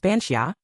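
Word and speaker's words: bean sídhe: forms, the archetype of the bean ny, pronounced bansia, the washer at the fort.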